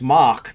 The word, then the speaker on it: Mach: It's Mach, like Mach 5, M-A-C-H. Oh, for Christ's sake, I closed it again. God damn it. I swear to God. Very frustrating. Yeah, it's Mach, like Mach 5, and then Ariel, like the Little Mermaid, Ariel.